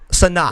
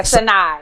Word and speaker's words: Sanaa: Sanaa. Yeah, Sanaa.